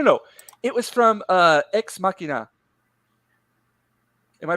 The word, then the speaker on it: Ex Machina: oh no no no it was from uh ex machina am i pronouncing that right yes where he talks about